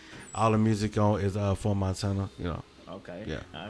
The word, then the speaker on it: IV Montana: It's pronounced For Montana, but a lot of people say IV.